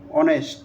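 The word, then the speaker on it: honest: এখানে দেখেন দি অনেস্ট ম্যান এখানে কি অনেস্ট এখানে এইচটা কি আছে সাইলেন্ট আছে আমরা তো অনেস্ট ম্যান বলি না কোন সময় অনেস্ট বলি অর্থাৎ এসটা এখানে কি আছে সাইলেন্ট আছে এখানে ও থেকে উচ্চারণ হয়েছে অনেস্ট হ্যা এইজন্য এখানে কি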